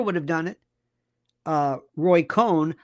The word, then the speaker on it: Roy Cohn: Roy Cohn. A lot of people say Roy Cohen. They always pronounce his name Cohen. Roy Cohn would have done this.